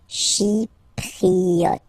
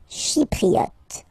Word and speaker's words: Chypriote: Remember this Y is pronounced like I, okay? Chypriote. Chypriote.